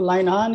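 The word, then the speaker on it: Linehan: हाँ, ये ना बेसिकली लाइनहान, इनको अगर मैं सही ढंग से प्रोनाउंस करूं तो लाइनहान इज द ऑथर.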